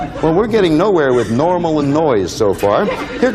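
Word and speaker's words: NORML: marijuana m laws l so it's pronounced normal that was our in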